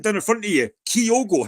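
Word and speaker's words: Kyogo: could for how to pronounce it how did pronounce it I've never heard it Keo it's kogo everyone knows that you me be a Celtic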